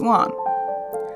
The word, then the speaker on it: Lan: Hayne and the one on the right is lon Tada to those of you who are already